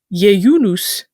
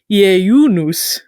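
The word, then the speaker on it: ieiunus: And this word was indeed borrowed from the Latin jejunus, Jejunus. Although in more proper classical Latin, you'd hit the diphthongs a little harder and say it more like jejunus.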